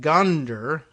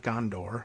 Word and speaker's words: Gondar: A Tigrayan jeweler abducted 3 months ago in Gondar, not Gondor, but Gondar, a city in the Amhara region.